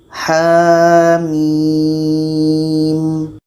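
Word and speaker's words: حم: Sekarang H ini dibaca dua harakat, sedangkan mim enam harkat. Ha mim.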